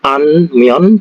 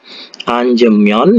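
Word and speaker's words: 앉으면: ini itu artinya duduk Jadi kalau ada kata anjion jadi dannya ini dibuang ya untuk memudahkan pengucapan Bukan anmion tapi Dit ditambahi kata anje anjemyon ya anjemon Ando jadi anjemon andweo ya ini artinya adalah tidak boleh jika duduk bukan anmion ya jadi cara merangkingnya itu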